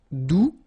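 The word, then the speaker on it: doux: the beginning all right do you don't pronounce the final X do feminine form adverb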